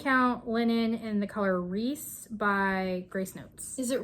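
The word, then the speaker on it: Rhys: I think it's Reese. Like R-E-E-S-E. Like Reese's Pieces.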